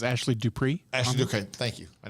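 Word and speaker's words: Dupré: And Rob, it's pronounced Dupree.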